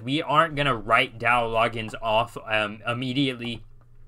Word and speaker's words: Loggains: offensive coordinator Dowell um from what I understand you pronounce it Dow logins I believe it's you don't really pronounce the a so it's not law gains from my understanding correct